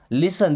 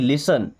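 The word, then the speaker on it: listen: लिसन देखिए T silent है। लिसन नहीं लिसन। लिसन मींस सुनो।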